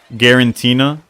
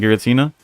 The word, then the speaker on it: Giratina: I think people make fun of Jody because he says Garantina. Nah, but what y'all don't understand is that his Giratina is guaranteed to get him the W, so that's where it comes.